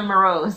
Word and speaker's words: Moroz: your name right and uh it's actually marose thank you for having me though T